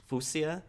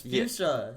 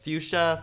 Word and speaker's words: fuchsia: and um what did you say Fusia City Fusia it's fuchsia fuchsia the whatever it doesn't matter yes it does